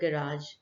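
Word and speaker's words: garage: Park your bike next to द गैराज या गैरेज, दोनों pronunciation ठीक है।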